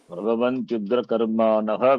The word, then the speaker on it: प्रभवन्त्युग्रकर्माणः: प्रभवन्त्युग्रकर्माणः कर्माणश्रयाय जगतो हिताः Prabhavantyugrakarmanah, visarga should be pronounced.